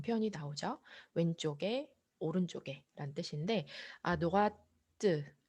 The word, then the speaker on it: à droite: 왼쪽에, 오른쪽에란 뜻인데 à droite 요거 발음 때까지 꼭 해주셔야 되는 거를 기억해 주세요.